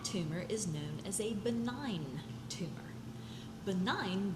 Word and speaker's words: benign: That tumor is known as a benign tumor. Benign, the G is silent.